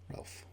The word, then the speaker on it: Ralph: I think does he pronounce it Ralph or Rafe? Ralph. Interesting.